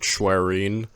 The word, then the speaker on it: Schwerin: Schwerin? I just use Google Translate right now. They said Schwerin.